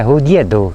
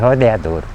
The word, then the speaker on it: Rodeadouro: nome não tava correto Por quê que é pronúncia não era rodeador e sim a pronúncia certa seria Rodeadouro E aí a gente